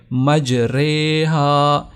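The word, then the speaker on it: مجراها: تلفظ کیا جائے گا۔ اب ہم اس کا اگر تلاوت کریں تو ہوگا مجریہا۔ اب مجریہا نہیں پڑھیں گے، مجریہا۔ تو یہ پارہ نمبر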